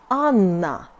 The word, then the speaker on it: Анна: A is like A in Adidas. Example in Russian, my name Anna.